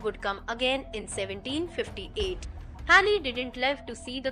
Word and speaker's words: Halley: Halley didn't live to see the comet's return, but his discovery led to the comet being named after him. The traditional pronunciation of the name usually rhymes with valley.